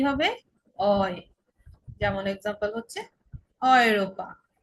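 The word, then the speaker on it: Europa: যেমন এক্সাম্পল হচ্ছে অয়রোপা। অয়রোপা মানে আমরা ইউরোপ বলি, সেটাকে ওরা অয়রোপা বলে।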